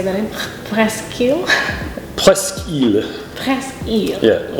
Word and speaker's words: Presque Isle: So the hoity-toity French or others speaking French would say Presque Isle, which is how it would be pronounced in French.